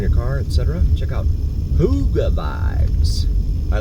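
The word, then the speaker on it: hygge: I discovered stumbled upon h y g g e that's Hotel Yankee golf golf Echo Vibes but it's pronounced Huga according to the description on the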